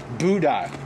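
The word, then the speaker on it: boudin: Spell that. B-O-U-D. Buddha. B-O-U-D-I-N, Buddha. Buddha.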